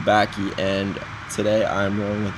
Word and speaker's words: Bacchae: So our group consensus was the Bacchae, and today I'm rolling with that.